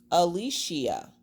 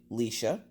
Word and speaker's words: Alicia: It is pronounced Alicia. But, that's a big but. No one ever pronounces it correctly except for like my mom. My mom will pronounce it correctly. My dad will randomly say it like fully, because I get a lot of people that call me Leisha or Alicia or just Leisha.